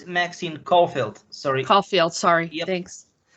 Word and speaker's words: Caulfield: Caldwell. So if people are familiar with the games, and right, is that correct? How you say her name? Maxine Caulfield.